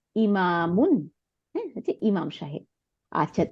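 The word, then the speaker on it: إِمَامٌ: হয় তাই না তাইলে হামজা জের ই মিম আলিফ জবর আর মিম দুই পেশ ইমামুন হ্যাঁ হচ্ছে ইমাম সাহেব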